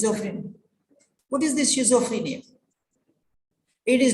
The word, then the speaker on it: schizophrenia: otherwise you listen but you don't understand anything pronunciation for example there is one girl who told schizophrenia she's afraid yeah there's one girl she told